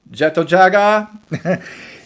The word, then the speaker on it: Jet Jaguar: pronounce it jet jaguar i pronounce it like it is pronounced in japanese jagga so jeto-jaga is going to be